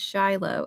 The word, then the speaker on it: Shiloh: Thank you for attempting my name, but it's pronounced Shiloh.